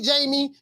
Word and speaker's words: Jaime: Name Jaime, Jamie. You know it is. If you're speaking English in American, it's Jamie. In Espanol is Jaime. So you know the H is silent.